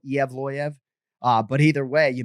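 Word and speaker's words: Evloev: do go mavsar and i can tell you the ufc play-by-play announcers pronounce the last name differently so i sort of say eev loya right ev loyev is passable per michael laplante and zac candido our producers but i actually go iavloyev uh but either way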